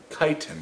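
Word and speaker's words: chitin: composed of a chemical called kiten kiten that's how this is pronounced kiten the same substance that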